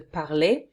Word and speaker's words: parle: Let's have a look with the parler. Parler, to talk, okay, parler. If I don't pronounce the a at the end, what's left is parle.